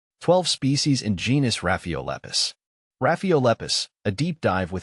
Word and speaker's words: Rhaphiolepis: Rhaphiolepis, pronounced Rhaphiolepis, is native to warm temperate and subtropical regions of East and Southeast Asia.